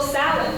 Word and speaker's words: Samhain: And no, Samhain is not spelled how you think it is spelled. They put an M in there.